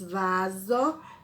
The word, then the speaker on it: vaso: de ontem observe que quando nós falamos vaso a segunda sílaba ela tem o som de z mas ela é escrita com s olha que legal mais